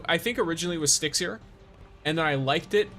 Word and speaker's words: Stixier: So I think originally it was Stixier, and then I liked it especially because when I say "What's up, guys," it's Stix here. It sounds like I'm saying "What's up, guys?" It's Stixier. And I intentionally pronounce it